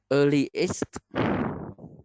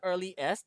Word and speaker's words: earliest: It's not early est. Remember, we don't cut, we cut some of the words, we cut them into syllables. Some we don't. This is one of those. Lee, yes. Early Lee, est. yes. Earliest. Not est. Earliest. Remember the Y.